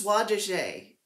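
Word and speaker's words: Soie d'Alger: uh avera soi no i said it wrong last time it's swa de jaye it's the name what's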